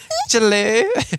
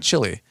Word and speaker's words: Chile: in Argentina CH Chile Chile um Brazil it's Chile that's how you say it no you don't it's not chili you think it's chili It's not Chile Chile it's not Chile it's Chile CH it's not Chile seriously